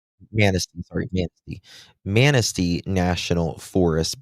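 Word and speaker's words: Manistee: uh wooded areas and uh how do you pronounce this? Uh is it Manatee? Manasty, sorry.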